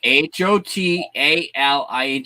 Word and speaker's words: Hotaling: Spell it phonetically, like Hotaling.